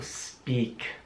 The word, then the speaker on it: speak: meinung nach sprechen speak es wird geschrieben aber das wird wie ein sehr langes ausgesprochen also speak ich habe nur einmal